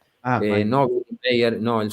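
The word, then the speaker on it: Meier: No, se escribe Meyer. Mayer.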